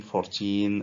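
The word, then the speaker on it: fourteen: or 70, is that 14 or 40. So we notice that the stress is on the last part when it is 17, 14, 13 and so on.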